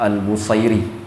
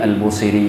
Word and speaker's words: al-Busiri: pertama Imam al-busiri sendiri ada orang membacanya Imam al-bukhari orang Mesir menyebutnya busir karena busir itu nama tempat jadi Al Musri itu nisbah kepada tempat jadi pengucapan yang paling sesuai dengan kaidah bahasa Arab itu Al Musri Imam Al Musri ini